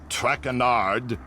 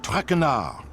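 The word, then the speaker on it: Traquenard: As for my name, not traard. It is Jean Michichelle Trackar.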